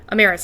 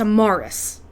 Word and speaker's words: Amaris: because I keep on her name is not amaris it's a Morris a-r heart sound a Morris uh at one point